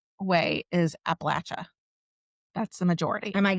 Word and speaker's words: Appalachia: It's supposed to be Appalachia. Well, there's a difference. The The southern part of Appalachia say Appalachia. The northern part you says more Appalachian.